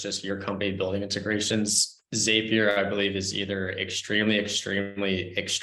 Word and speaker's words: Zapier: All right, I'm getting corrections in the chat about how I'm pronouncing Zapier. Is it Zapier? It's Zapier. Zapier.